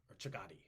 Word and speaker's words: Chagatai: Chagati is how we usually pronounce it. Chagatai. But I believe it's pronounced Shugtai.